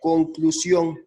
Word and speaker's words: conclusión: del acento final aplica la palabra es conclusión no te conclusión su mayor fuerza de voz está en la sílaba ción acción si nosotros vemos